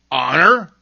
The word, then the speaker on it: honor: At the beginning of some words, H is seen but not heard, as in hour. H-O-U-R, hour. Other words that begin with silent H are honor, air, and honest.